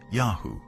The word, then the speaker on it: YHW: the shasu lived is called yhw pronounced yahoo likely the name of